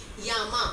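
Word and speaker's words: llama: ही pronounce करेंगे बट अगर कोई एल डबल एल से है डबल एल है तो वो य से प्रोनाउंस होता है उसमें डबल एल है तो य से प्रोनाउंस होगा जैसे यामा मतलब नेम डबल एल है तो क्या बन गया वो य यामा ऐसे ही जड है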